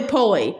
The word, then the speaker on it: Polly: Uh uh poly to be pronounced as though it rhymes with Paul. I'm tall and uh skinny Lego pole, but even so I might get called roly poly.